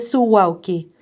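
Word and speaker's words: Suwałki: refiere al corredor de su wauki. Así se pronuncia, pero se escribe su u a l k i.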